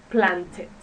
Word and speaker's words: planted: And the last word that I have as an example is plant. And we're going to pronounce it planted.